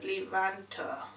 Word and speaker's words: Levanter: I was gonna say Lavender, but it's not Lavender, it's Levanter. Pantam.